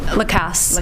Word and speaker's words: Lacasse: I'm sorry, how you pronounce it? Lacasse.